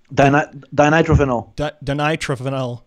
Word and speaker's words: dinitrophenol: Dinitrophenol. Dinitrophenol as medicine by John G.